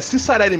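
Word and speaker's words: Ciccarelli: Sim, é Cicarelli esse pronúncio desse desgraçado aí. Quem liga? Que falou... Cicarelli. Como diz não, o... Não, é Cicarelli mesmo.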